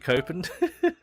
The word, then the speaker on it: Copen: You know, this car, it's pronounced C open, but when it's presented like that, you can't help but look at it and say Copen.